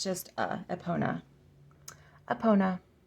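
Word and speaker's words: Epona: mother I think that's pretty straightforward we have eponia let's see epon epon there's no yeah aona it's just a aona aona h this one is aru oh aru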